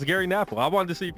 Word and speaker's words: Gary Knafelc: phonetically. It's Gary Knafelc. I wanted to see if you knew. Now I'm unsure. It's Gary Knafelc.